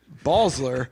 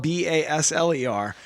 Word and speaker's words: Basler: them all together because in Saint Genevieve it's balsler but it's spelled b-a-s-l-e-r but in St Louis it's Basler which is really the way I think it should be pronounced b-a-s-old I shouldn't take